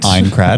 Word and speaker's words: Aincrad: Aincrad, I believe it's pronounced.